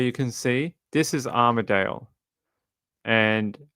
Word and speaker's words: Armadale: Um, Armaddale as in Melbourne. Armaddale. So, there is a suburb in the inner city, not too far from South Yara, actually, which is it's spelled differently. It's spelled a uh a R M A D A L E. Armadale. It's got a it's got an extra A in it as where the